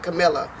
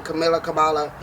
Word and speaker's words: Kamala: Like my family is so for this Camilla. I say her name wrong. Kamala.